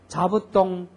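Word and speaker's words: 座布団: 자수다이자이자 자가이모 자가이모 혀가 어떻게 돌아가나 잘 보세요이자이자 자부동 자부동 자가이모 자가이모 자부동 할 때의 자는 사에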